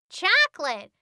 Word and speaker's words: chocolate: one chuck o lent this word has a silent syllable and a silent letter shh chocolate crazy hey rom bus